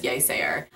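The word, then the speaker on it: Yeasayer: it was I think it's either yayer or yaysayer I'm pretty sure it's yaysayer okay it's I don't know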